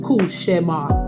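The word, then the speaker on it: cauchemar: now let's be clear it is a French word and it's pronounced kushar which means nightmare but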